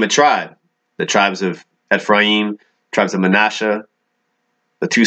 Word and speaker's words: Ephraim: No division between Judah and Ephraim, or better pronounced, Ephraim.